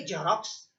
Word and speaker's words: Xerox: अंग्रेजी में उच्चार करते हैं, लिखते हैं XEROX और उच्चार क्या करेंगे, जेरोक्स। उसका लिप्यांतरण तो ZEROX होना चाहिए, लेकिन उसकी लिखावट अलग, उच्चारण अलग।